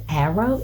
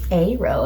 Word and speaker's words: aro: and I was like, are you guys really pronouncing this as arrow? It's arrow. And I was like, oh, arrow, that makes so much sense. Like aromantic, arrow, not arrow, duh.